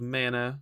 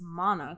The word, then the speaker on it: Mana: but i'm doing it i would say it's mana because that would be the japanese pronunciation but you can say